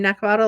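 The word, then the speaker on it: Neckvatal: of my day today my name is NE bottle you pronounce my name NE bottle like bottle and I am a solutionist I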